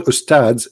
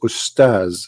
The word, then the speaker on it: Ustaz: Even they don't know even how to say the word because the word Ustads is not correct in the way they say it. The word in Arabic is Ustaz, which means a master, teacher.